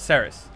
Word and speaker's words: Ceres: It's not Sebas, it's Ceres. Sebas is probably the Japanese way to pronounce it.